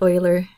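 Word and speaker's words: Euler: some people call it Oiler number let me write that for you his name is pronounced Oiler and it's spelled with an E so that's where we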